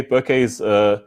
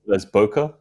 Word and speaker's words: bokeh: little bit about bouquet bouquets it's be okay eh some people pronounce bokeh which is incorrect so sorry it's it's basically the Japanese word which means out of focus area so it's bouquet right and so basically it's